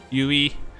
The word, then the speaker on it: Yui: however you want like you're supposed to pronounce it like ue but that just sounds awkward for for a western person so i've just been saying you but welcome how how